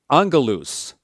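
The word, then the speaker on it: ἀγγέλου: have a double consonant we have this gamma gamma so it's going to split between them so we can say Ang gamma gamma pronounces like an NG like Ang Ang G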